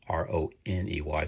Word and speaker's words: Roney: You spell it just like you would the word money, Money, but it's Roney.